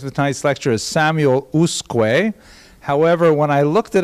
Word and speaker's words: Usque: So I would guess the subject of tonight's lecture is Samuel Usque. However, when I looked it up online, they said Usque, which seemed to me not in conformity with